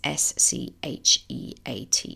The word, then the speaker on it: Scheat: Pisces fixed star, and I don't know how you pronounce it, but it's s c h e a t, Scheat, which I understand is traditionally associated with water danger, drowning, misfortune, and threshold events.